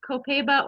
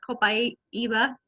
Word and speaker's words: copaiba: daily shampoo and the copaiba or cobai eva some people depends on who you talk to how it's pronounced copaiba vanilla shampoo is my